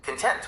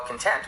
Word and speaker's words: content: Content with the emphasis on the first syllable refers to the subject matter, while content with the emphasis on the second syllable means to be satisfied.